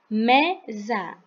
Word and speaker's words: mesa: S-a pode ter som de sa, mas nesse caso aqui, o s vai ter som de z. Então, a gente vai ler za. Mesa, mesa, mesa.